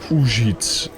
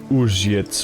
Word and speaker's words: Uzhitz: Trouwens, Uzhitz spreek je uit echt als Uzhitz. En niet als U, maar echt Uzhitz of zo.